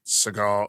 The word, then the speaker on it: Segel: They've you know, the first couple seasons the the show focused mostly on Jason Segel Siegel Segel, how do you say his last name? Segel.